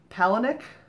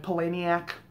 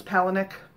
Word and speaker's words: Palahniuk: Chuck Palahniuk, I think is how he says it. I've heard it pronounced so many different ways. Some of them absolutely embarrassing, like Palahniuk. That makes no sense at all. But I think he says it's Palahniuk. That's pretty easy.